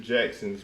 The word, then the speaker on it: Jaxn: Jackson's wife, and I think his name is actually spelled Jaxn because It's Jackson. on her page It's it's Jaxn. spelled out correctly. It's Jackson.